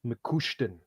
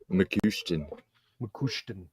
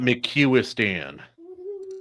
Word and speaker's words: McCouston: I would like to point out it is McCouston. McCouston. So not McCuistan. No. Okay, just checking.